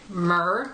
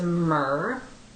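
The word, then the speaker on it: Mehr: The next one I have is a matte finish lipstick in the shade Myrrh, which is spelled M-E-H-R. So this one's a bit rosier. So right there is Myrrh.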